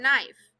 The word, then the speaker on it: knife: e as in knife some words have silent letters such as K and knife read each clue unscramble